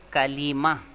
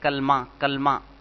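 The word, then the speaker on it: كلمہ: کلمہ بھی کہتے ہیں۔ اس کا صحیح تلفظ ہے کلیمہ، کلیمہ لام کے زیر کے ساتھ۔ عام طور پہ کہتے ہیں کلمہ، کلمہ۔ یہ ہماری اردو یا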